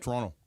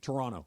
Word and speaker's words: Toronto: uh what you said Toronto wrong you send it like an American you know how you do it Toronto no second T yeah Toronto Toronto yeah yeah that say I learned